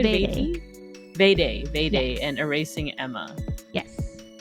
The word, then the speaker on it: Vade: Am I pronouncing that right? Vade, yeah.